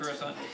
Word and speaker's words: Coruscant: I'm used to saying Coruscant. All right. Not Coruscant. Coruscant. If you mispronounce it, it's okay. Try now.